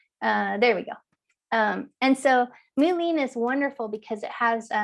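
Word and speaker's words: Mullein: And one of the reasons I want to talk about Mulin, it's an amazing herb for the lungs. So it's spelled M-U-L-L-E-I-N, and our slide is not quite progressing like I would hope it to at this moment.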